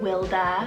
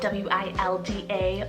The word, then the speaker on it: Wilda: means period of time I love the name wilda spelled w-i-l-d-a wilda this one's really beautiful with that nickname